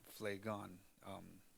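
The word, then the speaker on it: Phlegon: así Nosotros le llamamos porque en inglés se pronuncian con la pH pero en español es Play gone un poquito de él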